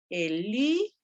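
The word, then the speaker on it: ἐλύσαμεν: ya me equivoqué, ahí tendría que ser Elisamen. Porque si contamos las sílabas, 1, 2, 3, siempre de la última, penúltima y antepenúltima.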